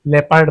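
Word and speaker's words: leopard: People ऐसे ही हमारा ओ silent होता है। इसे हम लेपर्ड पढ़ते हैं।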